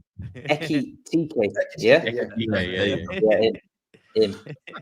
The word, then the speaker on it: Ekitike: Ekatike. I always say T first as well. Ekitike.